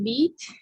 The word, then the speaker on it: vit: Elle vit. Sin la T, no se pronuncia la T.